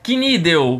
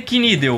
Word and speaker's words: Knidel: Se pronuncia Knidel, o camudo. Knidel, deu, não é del, não é. Del. Pode ser Dell também.